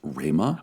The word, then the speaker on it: Rhema: Actually, it's actually pronounced Rema.